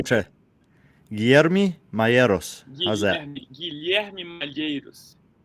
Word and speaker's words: Guilherme: Guilherme? Yeah, almost there. Tell me. 8%. Wait, let me try. Guilherme Malheiros. How's that? Guilherme Malheiros. Guilherme. There's the L. You Yeah. say the L. Yeah. And the Guilherme.